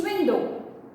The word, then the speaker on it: window: Now, window means window. But again, I told you poetic license, so to rhyme with Belinda, it's window.